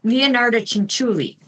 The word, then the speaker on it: Leonarda Cinciulli: and I'm not sure if I can still pronounce them. Okay. Leonarda Cinciulli. It's Leonarda Cinciulli.